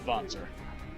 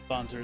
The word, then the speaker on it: Wanzer: Yes, it is technically pronounced Wanzer. It's a German name in origin in this universe, so Wanzer is the correct pronunciation of that word.